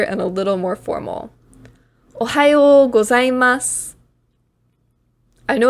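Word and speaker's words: ohayō gozaimasu: Ohayo gozaimasu.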